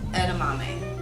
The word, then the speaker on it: edamame: heartless theory I want to first talk about edamame I said it right yes okay so could you tell us about edamame and what it is when people normally would